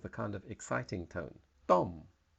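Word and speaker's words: ต้ม: this word it's pronounced Tom with a kind of exciting tone Tom it sounds a bit like stomp th and it means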